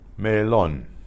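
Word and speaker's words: melón: Melon, melon, melon, melon, melon. Now the word melon normally wouldn't be pronounced that way, except that there is an accent on the O, melon.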